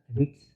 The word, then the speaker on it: REITs: REITs, REITs, real estate investment trust या REITs, जिसका उच्चारण रिट्स ये वे कंपनियां हैं जो कमर्शियल और आवासीय संपत्ति से किराया कमाती हैं और एकत्र करती हैं।